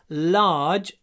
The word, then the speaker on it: large: Large. Во-первых, надо произносить л с открытым ртом. Л. Во-вторых, двойной. Large.